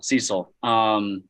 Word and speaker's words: Cecil: I literally Googled how to pronounce the name Cecil. Cecil.